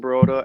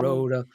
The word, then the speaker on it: Baruda: That's how you say it? Baroda, same thing. I want to know what you prefer. What do you prefer? Baruda? Baruda. All right. I like Baruda better.